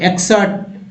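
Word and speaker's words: excerpt: अब यहाँ देखिए, यहाँ क्या पढ़ेंगे, यहाँ तो गलत ही पढ़ पाते ना, यहाँ पी टी को ट पढ़ेंगे, ठीक है, टी को पी इसमें साइलेंट है, तो एक्सर्ट, एक्सर्ट क्या पढ़ेंगे, एक्सर्ट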